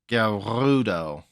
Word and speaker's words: Gerudo: just teleport back also it sounds like the pronunciation of gudo has a rolling r gudo okay uh first I